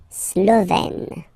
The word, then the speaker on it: Slovène: Remember, E accent grave, you open it, E. Slovène.